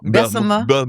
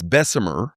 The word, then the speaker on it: Bessemer: Bessma, Alabama. How you say it? Bessma. Bessma. It's Bessemer.